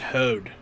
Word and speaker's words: HOAD: I think it would be pronounced Hode.